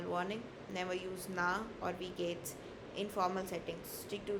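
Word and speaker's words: wie geht's: you can just say we gates. Alright, instead of we gate s, you just drop the s and you put an apostrophe s. So that's we gates. Alright, that's the pronunciation we gates.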